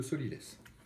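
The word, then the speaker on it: sot-l'y-laisse: Hein, ça s'écrit comme ça se prononce, sot, S-O-T, L'-Y, plus loin, laisse, L-A-I-2-S-E.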